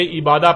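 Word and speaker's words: عبادة: لکھا جاتا ہے عبادہ، اور جب عربی لہجے میں اس لفظ کو پڑھا جاتا ہے تو تیز ساکت ہو کر ہے کی آواز میں بدل جاتی ہے، یعنی اسے عبادہ پڑھا یا بولا جائے گا۔ عربی کا لفظ عبادہ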